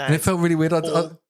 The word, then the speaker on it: Wardall: Wardall. Wardall. Yeah, I didn't want to say. I was going to say Wardell, No, and it felt really weird. Wardall. all of the hospital wards.